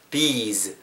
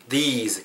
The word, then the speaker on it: these: these, these 길게 발음하고 뒤에 z로 끝나야 복수형으로서 우리가 의미를 전달할 수 있거든요.